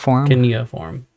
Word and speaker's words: cuneiform: Cuneiform.